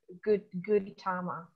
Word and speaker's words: Gautama: I'm going to butcher the name, the Gautama. Yes. Right? Gautama. You're saying it correctly. Gautama.